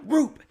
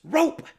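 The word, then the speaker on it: Rupe: She goes, it's not Roop, it's Rope. And I was like, what? So qualifying was done, and I told her, I said, I'm sorry, ma'am. And it's spelled R-U-P-E, so, I figured, it's Rope.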